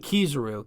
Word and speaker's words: Kizaru: I just remember it's Aokiji and Kizaru.